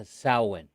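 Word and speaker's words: Samhain: how to say that word sam it's a sowwin words in me and pronunciation is right from my beginning okay and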